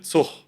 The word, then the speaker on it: Zug: Viele Leute in Deutschland, je nachdem, wo ihr seid, in welcher Region ihr seid, sagen zum Beispiel Zug.